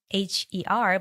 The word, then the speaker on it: Moher: So it's spelled like Moher, but what I learned is the Irish pronunciation would be the cliffs of Moher.